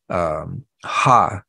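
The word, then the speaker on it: ὁ: So you've got this word the, or ha, it's H-O, written as a O, but it's pronounced ha, which means the.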